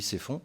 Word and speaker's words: Sept-Fonds: Certains ont peut-être lu parmi vous l'avis du père Jérôme de l'abbaye Ceffonds, de Sept-Fonds, je ne sais pas comment on dit, je crois qu'on dit Ceffonds, mais ça s'écrit Sept-Fonds.